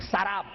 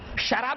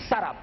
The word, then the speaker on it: سراب: اس کو بعض لوگ سراب پڑھتے، غلط ہے وہ. قرآن حکیم نے جو تلفظ بیان کیا، جو پرونانسیشن، وہی صحیح پرونانسیشن ہے. سراب، شراب نہیں، سراب.